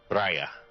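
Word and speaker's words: Radha: it's spelled out uh it's an Irish spelling but it is r a d h a Raya oh yeah you know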